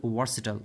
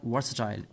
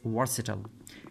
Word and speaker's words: versatile: to know is that that it's a word versatile not versatile few students are few people people pronounce that word is versatile you will have to pronounce that word as versatile electricity is the most versatile energy source that